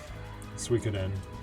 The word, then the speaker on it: Suikoden: Suikoden is how RPD is saying it's pronounced.